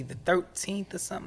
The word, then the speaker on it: TH1RT3EN: I want to say the 13th or something. Like I don't want to butcher it, but 13, but it's spelled TH1RT3EN.